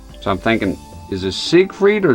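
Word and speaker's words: Siegfried: sigf freed or zigfrieded in this case it's German I'm not sure you know how how would that go all right let's go sig with like an ass sound as is written and he's saying zigg with it sounds like it Try spamming triangle.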